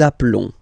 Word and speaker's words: appelons: Nous nous appelons. Nous nous appelons. Okay, final S doesn't exist.